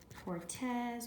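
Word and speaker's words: Cortés: Hernan, with an accent on the A. Cortez with an accent on the E.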